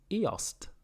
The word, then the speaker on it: IOST: this is eos and this is eost so that's the difference there's a t so i must pronounce it i must remind myself to pronounce the t i do apologize anyway